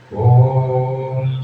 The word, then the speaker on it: ओम: उच्चारण करने के लिए ओम का उच्चारण करते समय अ उ और म इन तीन शब्द का इस्तेमाल करना है तो शुरुआत करते हैं ओम चांटिंग की करे ओम